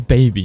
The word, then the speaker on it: Bhabie: sure it's quite obviously it says baby not barbie it sounds like an australian trying to pronounce barbecue and her real name